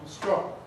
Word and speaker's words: strong: Now, English strong is one syllable. Bum, bum, bum, strong.